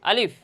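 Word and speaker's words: ألف: আলিফ আলিফ আলিফ আলিফ অনেক সময় সময় দেখা যায় যে অনেকে এই আলিফ শব্দটা এভাবে উচ্চারণ করে আলিফ হরফটি এভাবে উচ্চারণ করে যে বলে যে আলিফ না এখানে আলিফ হরফটি দ্রুত উচ্চারণ করতে হবে আলিফ আলিফ তথা মুখ দিয়ে একটু বাতাস বের হবে আলিফ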